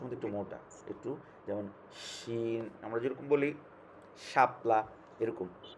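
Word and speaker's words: شين: উচ্চারণটা একটু আগে ছিল চিকন, আর এটা হবে তালবর্ষের মধ্যে একটু মোটা, একটু, যেমন শিন আমরা যেরকম বলি শাপলা, এরকম শিন। সিন চিকন, শিন একটু মোটা, সিন।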